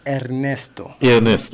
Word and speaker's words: Ernesto: Let me give you the proper pronunciation. Ernesto.